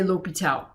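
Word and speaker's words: L'Hôpital: section 4.8 l'hopital's rule it's spelled La Hospital some people leave the S out but you say l'hopital and so l'hopital's rule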